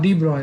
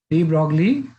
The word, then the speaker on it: de Broglie: हाँ, डी ब्रॉय, वैसे pronunciation डी ब्रॉय होता है, डी ब्रॉगली वेवलेंथ।